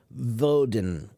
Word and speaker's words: Woden: But a long time ago, they used to spell his name or pronounce his name as Vodin. Vodin. Woden.